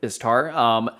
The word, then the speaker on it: Istar: So real quick, these are 3 different pronunciations. Istari, Ishtar, Istar. So Istar is what is used in the books, as well as Istari. So Istari is plural, Istar is singular.